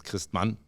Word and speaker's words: Christmann: If you say it in German, it's Christmann. Oh, that's how you have to say it. You gotta learn to say it like that.